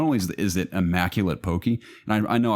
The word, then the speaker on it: poke: only is it immaculate poki and I know I realized probably pronouncing that wrong and people tell me it's pokey or well okay Mon pote like like poke a bowl but I just say